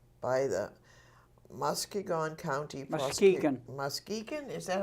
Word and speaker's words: Muskegon: Muskegon? Is that how it's pronounced?